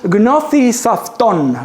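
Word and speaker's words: γνῶθι σαυτόν: It is pronounced Gnothi Safton. Gnothi Safton. I have learned this thanks to Google Translate. I hope I'm pronouncing it right.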